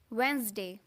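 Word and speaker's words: Wednesday: अगला वर्ड है हमारे पास वेंसडे।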